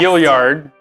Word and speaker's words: Gilliard: Gilliard. I said it right?